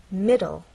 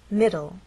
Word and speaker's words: middle: on the first part it ends in an e but the final sound is an l sound because the E is silent it's especially important in